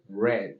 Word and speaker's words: read: es leer el pasado aunque se escribe igual se pronuncia red así como el color red to say cuya traducción